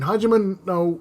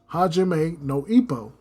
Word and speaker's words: Hajime no: But in Hajima No, I almost mispronounced the name. Hajime no, it is so much more.